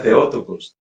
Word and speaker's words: Theotokos: El papel de la iglesia no es negar el concilio de Éfeso ni es negar que María es Theotokos, que propiamente en griego se pronunciaría Theotokos.